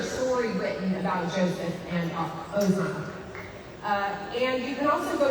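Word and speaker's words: Asenath: really interesting article about Oznot, which is spelled with an A, but it's pronounced with an O in Hebrew. Oznot, sometimes pronounced Ozanoff, is Joseph's wife, who's Egyptian.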